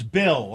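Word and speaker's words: Beal: You know, not a lot of people know this, but my name is spelled B E A L, but it's Bill.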